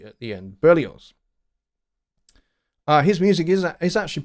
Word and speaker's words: Berlioz: that that don't know who berlioz is um is spelt uh b-e-r-l-i-o-z there's no s-e at the end it's z at the end burlios uh his music is actually pretty unsettling but